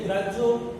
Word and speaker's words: গ্রাহ্য: সাথে আরেকটি বিষয় বলে দেই যে গ্রাহ্য যে বানানটি এখানে রয়েছে সেটি বানান এবং উচ্চারণ দুটিতে ভিন্নতা রয়েছে। এখানেও একটা শেখার বিষয় যে গ্রাহ্য বানানটি হয় জফলা দিয়ে